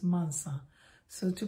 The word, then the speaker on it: Mansa: soft it's not a z so it's a mansa so to pronounce it think of mensah the brainy people